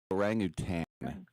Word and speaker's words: orangutan: Orangutan. You know, right? Yeah, right. No tang and no sherbet.